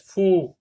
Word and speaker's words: faux: Faux, X est une lettre muette.